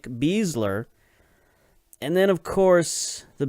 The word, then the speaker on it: Besler: of Matt Besler and we have been pronouncing his name Bessler so I doubt that they pronounce their names differently considering they are related so we'll probably from now on call him Nick bezler and then of course